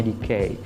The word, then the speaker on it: DK: ini juga logonya ya dkn teman-teman ya JK membacanya dikei Oke EDC ini penerbit dari luar negeri yang